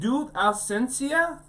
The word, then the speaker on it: Tu Ausencia: Let's talk about what you said, Tu Ausencia? Yes. Say that again so I can get the pronunciation.